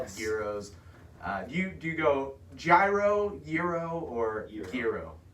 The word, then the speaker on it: gyro: So if you've always wondered, it's like just the G is silent. You just go straight Y.